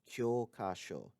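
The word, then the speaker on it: 教科書: which is kyoka now the thing to remember is that kyokasho textbook has a long o sound in the first syllable whereas kyoka license has a long o sound in the final syllable uh it could be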